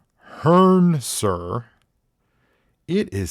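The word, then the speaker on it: Hrncir: that's a guy that's a human name it's pronounced Hearn sir it is spelled HR n c i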